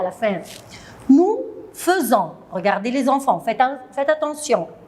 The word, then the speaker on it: faisons: Nous faisons. Regardez les enfants, faites attention. F-A-I, je prononce feu. On ne dit pas nous faisons, nous faisons.